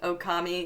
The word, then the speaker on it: Okami: It's hard to explain to how to say the O and Okami. Yeah, it's you have to say the O and then stretch out the sound a bit.